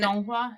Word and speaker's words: Donghua: Donmei, and then Donghua, yeah. And then the anime is the Donghua. Yeah, so it's like original is the Danmei, which is the novel, and then there is a Donghua, which is the animation adaptation, and then there's